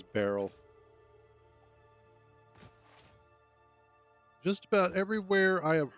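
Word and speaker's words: Beryl: Barrel nuts which also apparently can be pronounced Burl which is weird but I've always liked saying it as Barrel just about everywhere I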